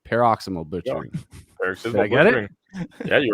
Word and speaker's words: Paroxysmal Butchering: got josh tim and billy from let me pronounce that let me try it don't tell me you got it pero peroximol butchering paraximal butchering i get it yeah you were right yeah